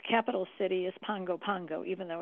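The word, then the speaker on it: Pago Pago: for American Samoa and its capital city is Pongo Pango even though it's spelled p AO P goo it's pronounced Pongo Pongo wow and uh this is where about half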